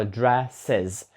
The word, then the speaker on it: dresses: чути різницю тому що перший звук там де в нас подвійна S якраз звучить як с dress а от другий Вже як з dresses вловлюєте різницю ще раз